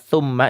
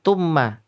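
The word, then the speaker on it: ثُمَّ: Itu harus hati-hati ketika mengucapkan huruf ta. Itu nanti kalau salah-salah akan menjadi ta. Dan ini banyak karena Kak Sodi sering mengamati ketika kebetulan beberapa santri atau mungkin peserta MTQ, MTTQ pas baca thumma itu tumma.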